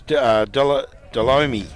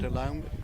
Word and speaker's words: Delome: to where it was Delomi. Delomi, is it? Is that how you say it? Yeah, Delamay? Delomi? Delome. Kurt Delome? Kurt Yeah. Delome, is it?